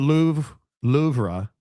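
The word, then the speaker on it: Louvre: The Lou Lra is how it's pronounced. Go back to that again. Louver was amazing.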